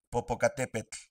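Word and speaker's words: Popocatépetl: La terminación TL hace que tu lengua toque el paladar. Popocatepl na. Solo quiero mencionar que la pronunciación de la TL en este video es incorrecta. Escuchen con atención. Popocatepet nawatl.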